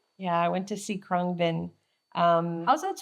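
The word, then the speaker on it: Khruangbin: Yeah, I went to see Krungbin. How's that spelled? Kruangbin. And I believe it's a Thai Phonetically word.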